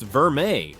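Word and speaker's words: vermeil: Gold Verale, pronounced Verme, represents a step up from standard gold plating, but still falls short of solid gold quality.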